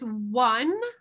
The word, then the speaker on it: one: For example, how do we pronounce the O here? Wa. One. And how about the W here? Week.